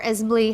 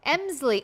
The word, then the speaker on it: Emsley: This is the cute Esme or Esmley. How do you say that? Emsley. Oh, yes, obviously. If I would have just said it how it was spelled.